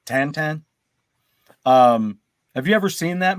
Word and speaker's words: Tintin: Hey, here in the States we've always called it Tintin, the character, the classic character, but it's actually pronounced Tantan.